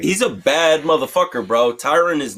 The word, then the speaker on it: Tyron: Wait, Tyron. T-Y-R-O-N. It's spelled like Tyrone, but not. His name is Tyron, and a lot of people call him. A lot of people in the industry too call him Tyrone, but Jesus it's sad.